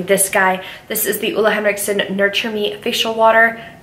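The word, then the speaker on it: Ole Henriksen: video will be this guy this is the EULA Henriksen nurture me facial water it's pronounced ulla ulla Hendrickson he's Danish his videos are adorable he's my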